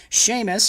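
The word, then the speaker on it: Seumas: this earlier with uh sheamus who was on our podcast uh a couple of weeks ago he's a cool guy check out at the sheamus which is spelled funny a s s-e-u-m-a-s um on twitter check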